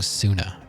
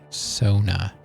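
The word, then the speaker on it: Soona: and trying to measure oh Sona I keep saying sooner and you know I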